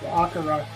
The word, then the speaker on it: Akira: But stuff like Akira and Akira. Actually, if you listen to them pronounce it in the movie, it's Akira.